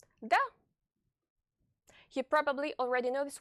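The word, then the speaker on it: да: It's pronounced like the English D. D. Da.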